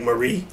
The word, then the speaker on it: Marie: Marie is spelled like Marie, but in Japan it's pronounced Marie.